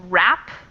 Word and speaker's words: wrap: To want, to wrap, silent W in the word wrap.